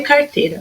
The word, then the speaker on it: carteira: Minha sílaba tônica na palavra carteira é o teira. Então, a carteira não faz parte de palavras oxítonas, porque a sílaba tônica dela é a penúltima e não a última.